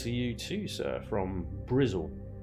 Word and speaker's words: Bristol: you too sir from brizl Bristol as its properly pronounced it's going alright it's